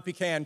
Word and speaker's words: pecan: elder who was planting pecan or pecan trees depending upon what part of the country you're from how you pronounce it and he saw this